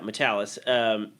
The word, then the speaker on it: Matalas: Yeah, Matalas.